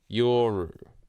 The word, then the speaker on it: Yoru: Yoru. Wow, that's an easy way to remember. Just Yor. That's all it is. Yeah. Shut up. Yeah, the U isn't pronounced in Japanese.